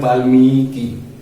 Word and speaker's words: वाल्मीकि: जैसे हम बोल रहे हैं वाल्मीकि, जो बड़ी इकार होता है तो हम लोग थोड़ा सा उस पर दबाव देके बोलते हैं, थोड़ा टाइम देके बोलते हैं।